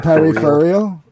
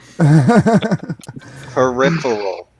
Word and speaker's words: peripheral: pronouncing it peripheral sounds periperal peripheral there is an i in that word you know that right